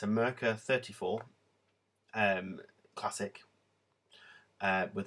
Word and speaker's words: Merkur: is in its box it's a murker i think that's how you say it's a german make and it's a merka 34 um classic uh